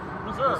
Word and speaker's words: Meserve: I've been told by my dad at home to tell you guys how to pronounce my name. It's Meserve. Meserve.